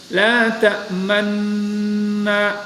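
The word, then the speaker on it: لَا تَأْمَنَّا: sedikit manyun, yang disembunyikan, cukup diisyaratkan dengan manyun atau memanjangkan ke depan. Jadi la ta'manna, nah itu boleh. La ta'manna. Jadi ada sedikit efeknya dalam melafalkan kalimat la ta'manna.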